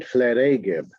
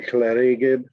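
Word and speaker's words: Llareggub: Line 41 of page 17, chleregib. A bunch of different people have to say chleregib. That's how it's pronounced.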